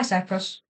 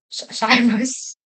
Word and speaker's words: Cyrus: Oh, hi, Cyprus. Cyrus. Cyrus. Okay, maybe I'm not the best at pronouncing things. Maybe I might not be the best at pronouncing things, and maybe I just called Cyrus a Cyprus.